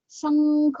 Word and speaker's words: शंख: तो यहाँ पे क वर्ग का प्रोनाउंसिएशन है तो इसका प्रोनाउंस क वर्ग का पंचमाक्षर है, इसलिए उसका प्रोनाउंसिएशन उंग होता है, शंख गंगा।